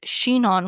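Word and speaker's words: Chinon: One of my favorite areas in France for Cabernet Franc is Shenon, which is located in the Lir Valley.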